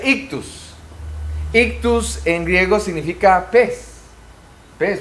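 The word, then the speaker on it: ΙΧΘΥΣ: Entonces se pronuncia ictus.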